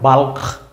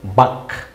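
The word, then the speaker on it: balk: মানে হচ্ছে লোক সংগীত এটা কি বি এল কে মনে হয় বালক কিন্তু না বালক না কথা কিন্তু হচ্ছে বাক বি এল কে বাক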